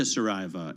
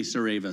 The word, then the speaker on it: Saraiva: see that you wrote this piece with Augusta Saraiva, and then people will ask, "Are you sisters?